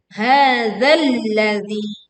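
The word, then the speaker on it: هَٰذَا الَّذِي: Hadzalladzi. Tekan lam bertasydid di sini. Di sini sebetulnya melebur ya, ada alif lam karena di depannya kebetulan juga huruf lam sehingga memang kita langsung menekan pada huruf lam.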